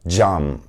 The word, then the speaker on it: cam: For example, the letter C is pronounced J in Turkish. It's the J sound as in jump. For example, the word cam, which stands for glass in Turkish.